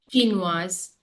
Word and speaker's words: Chinoise: Chinoise. Chinoise. Correct. So that is La Chine, Chinois, Chinoise. Single S. If you have in between, that gives the sound of Z. It becomes Chinoise.